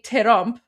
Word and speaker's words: Trump: So for example, in English it's trump, which is one syllable, but in Persian we say terump, which is two syllables. Don't ask me why, that's just the rules. We say terump. It's just how it's pronounced.